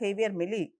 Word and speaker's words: Javier Milei: Donald Trump and Argentinian President Javier Milei, we should pronounce him as Javier Milei, both are close allies.